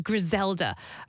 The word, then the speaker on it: Griselda: different character this is grisela am I say I'm not rolling the ODS enough am I nobody was perfect how would you how do you say it Gela Gela sounds better I don't know I